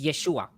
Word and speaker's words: Yeshua: closest because it's Hebrew I don't think Jesus is the right pronunciation right no it's Yeshua Yeshua and in Greek it'll